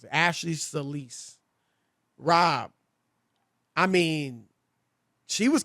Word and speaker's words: Solis: all i know and if you saw ashley soulless yesterday salis elise is how you pronounce it ashley solis rob i mean she was convincing she was